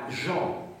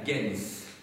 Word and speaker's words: gens: la gens GNS donc ne prononcer pas la Jean hein ça ça ça ressemble effectivement au mot Jean ça s'écrit de la même manière en français mais on dit la gens hein quand on parle